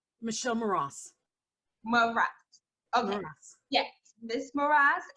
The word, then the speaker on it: Mras: Mras.